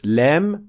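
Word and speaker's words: لام: lamp pronounced in Arabic you pronounce Lem when the front edge of the tongue is raised and pressing against the alveolar Ridge and when we say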